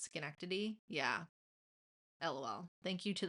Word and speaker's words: Schenectady: the way it's spelt when I first saw it, I was like Schenectady, but it's Schenectady.